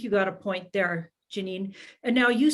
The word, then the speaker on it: Janine: it a lot of people did call me Janie thinking that's how you pronounce it until you know but at home I was uh I was called Janine uh until I got